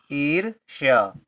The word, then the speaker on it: ईर्ष्या: यदि किसी अक्षर में रेफ की मात्रा लिखी है और उस अक्षर से पहले कोई आधा अक्षर है तो उस अक्षर से पहले ही उस रेफ की मात्रा का उच्चारण होगा। जैसे कि यहां पर रेफ की मात्रा का उच्चारण यहां पर हो गया।